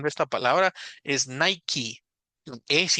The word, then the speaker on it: Nike: esta marca entonces Claro sí se pronuncia la e pero es porque la palabra no era originalmente en inglés sino sea como adoptado